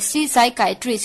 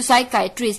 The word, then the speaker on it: psychiatrist: PSYCHIATRIST, साइकाइट्रिस्ट, इसमें P silent होता है, तो साइकाइट्रिस्ट।